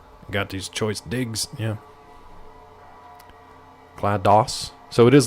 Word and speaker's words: GLaDOS: Oh, is it GLaDOS? Okay, then that's my fault, Tiffy. I always just pronounce it Gladys because I just thought that's what they were going for.